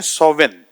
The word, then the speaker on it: Samhain: دیکھیں تو گوگل پہ ایک ورڈ ہے جس کو آپ کہتے ہیں سوون, ٹھیک ہے نا, اس کی اسپیلنگ جو ہے وہ سیمہائن ہے, SAMHAIN, سیمہائن لکھا سیمہائن جاتا ہے, لیکن اس کی جو پروننسیشن ہے یعنی اس کو جو بولا جاتا ہے وہ اس کو سوون بولا جاتا ہے.